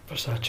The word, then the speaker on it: Versace: Versace. Did I pronounce it well?